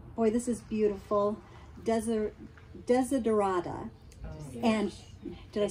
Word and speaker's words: Desiderata: And she got a, boy, this is beautiful, Desiderata.